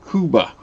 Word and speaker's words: Cuba: K U B-a Kuba is correct, but in English it is referred to as Cuba. Okay. So, it's still Yeah, it's Kuba, what you were just saying, but in English we pronounce it Cuba.